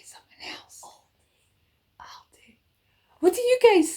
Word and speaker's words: Aldi: I thought it's Aldi. Did I say something else? Aldi. What do you guys say? I always say Aldi or Aldi. I just say it. People pronounce it all different ways.